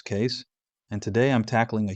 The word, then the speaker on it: Keys: Keys here, pronounced as Case, and today I'm tackling a huge claim that's been floating around YouTube.